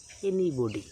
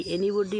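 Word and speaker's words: anybody: আমরা সবাই বলি এনিবডি, এটার সঠিক উচ্চারণ কী? এই এনিবডি ওয়ার্ডটির দুটো উচ্চারণ রয়েছে। আমেরিকান উচ্চারণ হচ্ছে এনিবাডি, কেউ, এবং ব্রিটিশ উচ্চারণ হচ্ছে এনিবডি, এর অর্থ হচ্ছে কেউ।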